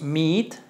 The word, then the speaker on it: meet: made made después tenemos Meet doble hace una I Entonces es Meet Meet Meet prácticamente se pronuncian muy